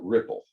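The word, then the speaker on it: Replit: look this up once apparently the pronunciation for the letter E in Czechoslovakia is the I so the people who created it call it Ripple but but those Americans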